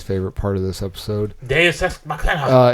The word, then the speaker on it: Deus Ex Machina: Deus Ex Machina. It's pronounced Deuce Ex Machina. Deus Ex Machina. No, it's Deuce Ex Machina.